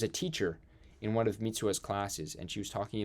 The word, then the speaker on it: Mitsuha: So as Taki is Mitsubi trying to gather everybody, sorry, I'm saying it wrong. Not Mitsubi. Mitsuha.